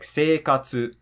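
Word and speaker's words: 生活: For Heiban, if you have a word like seikatsu, just has this eerie, flat ring to it.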